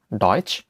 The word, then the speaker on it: Deutsch: উদাহরণ হচ্ছে ডয়েচ, ডয়েচ। এখানে টে এস সেহা থাকার কারণে চয়ের হালকা উচ্চারণ হয়েছে ডয়েচ, যার অর্থ জার্মান, জার্মান।